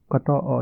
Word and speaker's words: कतऽ: तो कहाँ को हम कतऽ बोलते हैं, इसका आप उच्चारण देख लीजिए। अहाँ अहाँ के घर कतऽ, अहाँ के घर कतऽ, त में अ लगा हुआ है, कतऽ, अहाँ के घर कतऽ अछि।